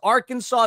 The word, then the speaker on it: Arkansas: It's not Lewisville, as Arkansas is not our Kansas.